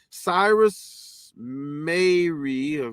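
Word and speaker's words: Cyrus Mehri: one from the oj trial civil rights attorney cyrus mary that's that's how you say it and labor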